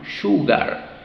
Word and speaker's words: sugar: put but Okay a girl sh Sugar so Sugar sh ugar Sugar Okay entonces todas estas palabras que hemos visto si pronunciaba de la manera incorrecta decías u en